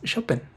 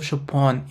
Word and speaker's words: Chopin: well a little disclaimer I pronounce Shen's name as shopen in Polish instead of shopon in French because shopen as his music is Polish in the Wonder and